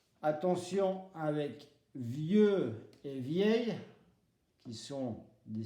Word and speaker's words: vieux: Attention avec vieux et vieille, qui sont des synonymes. Âgé ou vieux et vieille, synonymes. Vieux, prononciation, le X ne se prononce pas.